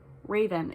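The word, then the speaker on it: Ravin: parents named me raven raven is my name not spelled like the bird spelled r-a-v-i-n not e-n but said the same can we talk about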